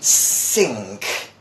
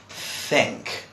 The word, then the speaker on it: think: with this particular sound many people say sink the main people we're pronouncing is this okay maybe people pronounce sink when they want to say this but again you mentioned this where we talked about three this is think think all right which